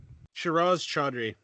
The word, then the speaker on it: Shehroze Chaudhry: Shiraz Chaudhry.